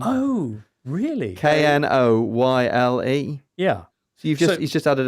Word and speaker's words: Knoyle: Because Noyle has a silent K at the beginning. Oh, really? Knoyle.